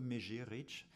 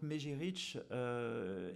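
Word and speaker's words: Mezhyrich: Donc vous voyez écrit Mezirich, Mejirich. Alors vous demanderez à ma collègue ukrainienne, mais je crois que c'est plutôt Mejirich, la prononciation à peu près du site. Donc Mejirich est situé à l'intersection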